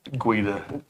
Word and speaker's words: Guida: And that's not pronounced Gaida. What was it? It's Guida. Guida.